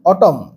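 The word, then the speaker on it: autumn: অটম স্পেলিংটা একটু ঝামেলার এ ইউ টি ইউ এম এন অটম এন এর উচ্চারণ হয় না সাইলেন্ট থাকে তাহলে লেট অটম মানে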